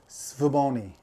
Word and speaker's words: Svbony: some people online um i guess the general consensus is svaboni um the s-v-b-o-n-y well